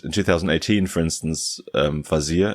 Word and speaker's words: Vazire: It said, in 2018, for instance, Vazire, is that actually how you pronounce it? Vazire? Yeah.